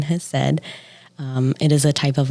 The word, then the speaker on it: Hesed: That is how you say that very confusing word that's in front of counseling, Hesed.